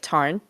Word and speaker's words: Tharn: Like Tharn type is actually like Tarn.